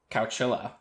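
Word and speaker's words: Chowchilla: Cowchilla? Cowchilla. Cowchilla. Did you look up that that's how it's pronounced?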